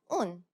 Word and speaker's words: اون: First we had un, which means that. It's the more natural pronunciation of on.